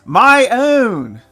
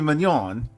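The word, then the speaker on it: Miounne: And the correct pronunciation for Mother Mignon is my own. Not ever gonna do it, no. Mother Mignon is gonna be Mignon. Cause my own is just, no. Mignon.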